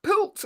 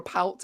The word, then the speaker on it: poult: A pult or a poult, apologies, I'm saying it wrong, P-O-U-L-T, is a name for a baby turkey.